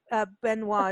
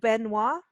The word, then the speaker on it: Benoit: I don't know if you know Tab Benoit is a guitarist. We met him in Natchitoches. What's his name? Tab Benoit, if I'm pronouncing it. Tab Benoit. Yeah, it's N-O-I-T. Yeah, N-O-I-T, Benoit.